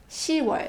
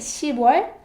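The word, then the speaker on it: 시월: however when we say October it's written and pronounced she was so it stops she boy but it's she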